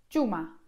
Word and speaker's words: Cuma: Nad tym się nie spinajcie, ale ta idealna wersja to coś pomiędzy dż i dzi. Dzie. I przykładem tutaj słowa jest dziuma.